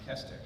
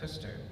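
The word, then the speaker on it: Koster: two dots over it so the actual pronunciation my parents told me was not the original pronunciation it's originally supposed to be pronounced kuster according to my grandfather one time my mom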